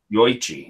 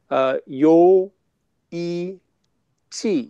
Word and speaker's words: Yoichi: Yoichi. Is that how you pronounce it? It's 61.6% alcohol. Sounds pretty nice. Yeah, with Japanese and Korean spellings, they don't blend vowels.